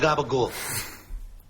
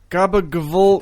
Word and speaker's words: gabagool: Where's your gabagool? Gabagavul. No, you don't pronounce it like a V.